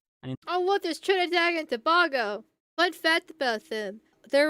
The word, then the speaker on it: Tobago: Tobago. That's how you're supposed to pronounce it.